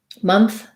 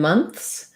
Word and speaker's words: month: of tricky ths part month and months um i would just build first of all know that this letter o is a schwa so it looks um